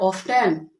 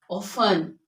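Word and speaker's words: often: इट is asthma asthma on नॉट ऑफ्टन इट इज ऑफर ऑफर okay these all rules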